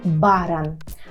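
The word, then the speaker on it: baran: це так і буде тільки пам'ятаємо про наголос кажемо баран баран так з бараном є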